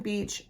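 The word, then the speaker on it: Beech: This is on Autumn Beach and it's spelled B E C H. It's a tree, not the beach where you go and and have a good time.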